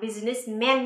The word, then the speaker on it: businessman: Man người đàn ông nhưng chúng ta sẽ không đọc là businessman nhé Mà chúng ta sẽ đọc là businessman men businessman businessman từ này chính xác